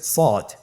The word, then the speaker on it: صاد: শুরুতে আমরা শুরু করছি সদ। সদ হরফটি পুর হরফ, মোটা হরফ, উচ্চারণের ক্ষেত্রে মোটা করে পড়তে হবে এবং উচ্চারণ করার সময় 3 আলিফ টেনে পড়তে হবে।